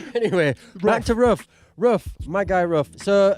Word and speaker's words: Ruff: Man's called Ruff. Ruff. Spell that for us. Like like a dog.